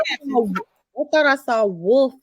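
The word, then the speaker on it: Wilf: That's but it's Wolf spelled, gang, but we call him Wolf. but it's spelled with an I, not an O.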